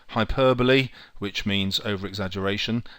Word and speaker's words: hyperbole: H, hyperbole, which means over-exaggeration. Notice it's spelt hyperbole, but pronounced hyperbole.